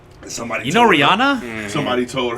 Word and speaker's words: Rihanna: What's up, Rihanna? Somebody. you know told her- Rihanna? Somebody told her. That's Rihanna. That's how you say it.